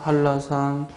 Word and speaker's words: 한라산: 한라산 불러봐요. H-A-L-L-A-S-A-N 왜냐면 발음이 한라산하고 리을 리을이 연달아 발음되고 이는 예외 규정으로서 리을 리을이 연달아 발음될 때는 뭐로 표기한다? LL로 표기한다. 정답은 4번.